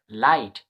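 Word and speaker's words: light: প্যাটারনে ধরতে পারো তো এখানে জিএইচডি মানে ট উচ্চারণ হয় এখানে পরবর্তী আমরা এডভান্স ক্লাসে শিখবো এন আই জিএইচডি নাইট এল আই জিএসটি লাইট এফ আই জি এইচটি ফাইট তো সুন্দর একটা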